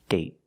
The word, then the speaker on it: date: day day and date date so with date we see the vow is shorter because you have a stop te at the end I got bored one